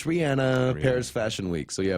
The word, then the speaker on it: Rihanna: yes I was just gonna say you mentioned Rihanna that is actually how you pronounce her name obviously all got schooled about